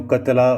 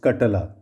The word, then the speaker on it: कटला: दूसरा जो कॉमनली बोलते हैं कटला, जो कॉमनली जो इसको खाते हैं वो कतला बोलते हैं, बट इट is true pronunciation is कटला.